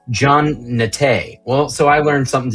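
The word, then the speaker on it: Jean Naté: It's pronounced Jean Nate.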